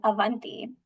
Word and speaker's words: Avanti: So my name is Avanti is how you say it.